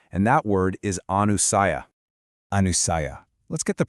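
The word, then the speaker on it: anusaya: Anusiah. Let's get the pronunciation right. It's Anu Saiia.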